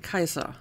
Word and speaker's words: Caesar: by them okay well if you want to pronounce that the proper classical latin away it is indeed kaiser so there's that um